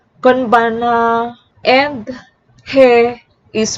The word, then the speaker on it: konbanwa: When ha is used as a particle mark the subject of a sentence, it is pronounced like wa. I'll repeat, if you see the syllable ha, it is pronounced as wa. For example, konnichiwa, konbanna. I'll repeat, konnichiwa is pronounced as konnichiwa, and konbanwa is pronounced as konbanna, and he is pronounced as e.